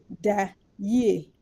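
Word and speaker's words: da yie: since we are saying good night, I speak Twi, and good night in Twi is da ye.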